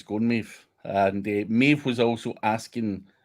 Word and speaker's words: Maeve: Maeve, who rhymes with Dave, has a few tests in the wild with pure AI and edited.